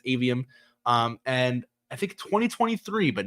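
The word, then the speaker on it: Aveum: I wasn't sure exactly how to pronounce that at first. I think it's Avium.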